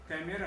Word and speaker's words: कैमरा: इसी तरह से कुछ लोग सिगरेट का उच्चारण सिगारेट बोल करते हैं, या होटल का उच्चारण होटल करते हैं, या कैमरा का उच्चारण कैमेरा करते हैं।